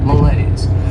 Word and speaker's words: malaise: Behavior next is mala this word has two syllables and the stress is on that second syllable malays and this is not a